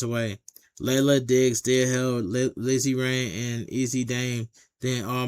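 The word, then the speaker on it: Lizzy Rain: Lizzie Rain or Easy Rain? Lizzie Rain.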